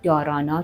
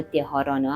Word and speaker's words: dharana: پراانایاما بعد پراتیاهارا بعد دارانا که حالا دهارانا هم تلفظ میشه و بعد دیانا که